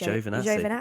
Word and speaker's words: Giovinazzi: I heard it is actually It's Giovinazzi.